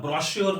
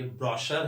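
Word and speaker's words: brochure: इसको दूसरी भाषा में प्रोस्पेक्टस बोला जाता है, ब्रोशर, ब्रोशर, जी हाँ, ब्रोश्योर नहीं होता है, ये आपको ध्यान रखना, ये ब्रोश्योर नहीं है, ये ब्रोशर है, जो कि प्रोस्पेक्टस है।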